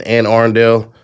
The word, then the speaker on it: Anne Arundel: I think they don't really give a damn about Ronnie over there in Anne Arundel.